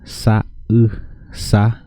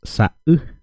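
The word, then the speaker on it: sa'u: Color en guaraní decimos sa-u. Ojo con el puso. El puso sirve para separar las palabras, las sílabas, digamos. Y entonces él se usa como si fuera un corte, como si fuera cortado. Entonces diríamos sa-u, color, sa-u, color.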